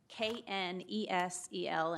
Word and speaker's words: Niesel: Hi, I'm Niesel, and that's Knesel, and I know it's not spelled like it is, but Niesel.